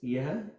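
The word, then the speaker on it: यह: question, like, you know, when I write it in Romanagari, it comes across like ye, but it's two syllables. So you have a year sound and her sound, two consonant, yeha.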